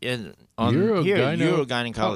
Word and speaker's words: urogynecology: Urogynecology. Oh, gotcha. Okay, gotcha. Right. Uro, like urine.